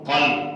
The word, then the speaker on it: قلب: یہ بھی ضروری ہے۔ عام ایک لفظ ہے قلب، قلب قاف کے ساتھ، اس کا معنی ہے دل۔ اگر آپ قاف نہیں پڑھیں گے اور باریک کاف پڑھیں